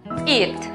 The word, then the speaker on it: eat: En la palabra comer, por ejemplo, notamos que la vocal E con la vocal A están juntas en la misma sílaba. Por lo tanto, la pronunciación correcta es eat.